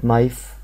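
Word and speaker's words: knife: حرف كلنا نعرف مثلا كلمه نايف كلمه نايف يعني سكينه اولها حرف كي مش ان ففي حروف كده في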